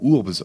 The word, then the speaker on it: urbs: Le mot urbs en latin, ça veut dire tout simplement la ville. D'ailleurs au passage, en latin, le U se prononce OU.